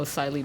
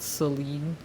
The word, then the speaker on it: Celine: Oh, Silene is proud. Celine. Oh, it is Celine.